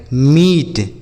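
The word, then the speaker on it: meat: उसी तरीके से यम ई ए टी, इसे पढ़ेंगे मीट, Yama E ए टी मीट।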